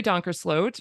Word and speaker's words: Donkersloot: And I traveled with Mary Donkersloot, rhymes with oat.